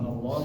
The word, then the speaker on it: Allah: al al al al kecuali di lazul jalalah yaitu kalimat Allah ya lafaz Allah itu dibac tebal Allah Allah Allah Allah nah itu tebal kemudian